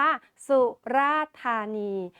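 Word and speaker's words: สุราษฎร์ธานี: กัน เลย นะ คะ เรา จะ อ่าน ว่า สุราษฎธานี ไม่ อ่าน ออก เสียง ด ชดา กับ ร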